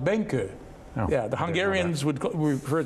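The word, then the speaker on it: Benkő: grand master pal Benko although in Hungarian it's pronounced benka ya the Hungarians would refer to him as pal Benko but we knew him as pal Benko now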